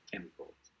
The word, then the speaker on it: chemical: Olviden, no se dice chemicals, como chemicals. Chemical ch aquí como un acá.